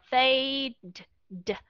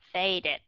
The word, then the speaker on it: faded: âm vào trong đó chứ không thể đọc là fade r chúng ta cho thêm một âm vào Insert cái âm đó vào chúng ta mới đọc ra là faded ok vấn đề này